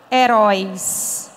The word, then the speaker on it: herói: uma coisa para vocês observem a palavra herói herói tem acento mas heroico não tem por que que heroico não tem porque é parox aí vai cair na regra anterior eu digo Erico o RI tem o de tongi é paroxítona e heroi é oxítona por isso que tem